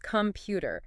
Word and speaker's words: computer: It's computer. That middle bit gets the emphasis.